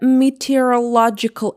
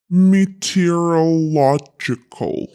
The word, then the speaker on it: meteorological: For example, the storm caught even the meteorological experts offguard. Meteorological balloon. It should be meteorological. Materological.